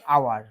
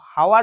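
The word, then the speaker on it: hour: কতক্ষণ এক ঘন্টা এন আওয়ার এই কখনোই আমরা এ বসাবো না এন হবে জানি তো আমরা এইচ এর উচ্চারণটা এইচ এর মত নয় হাওয়ার বলি না এটা আওয়ার বলে আর আ মানেই ভাওয়েল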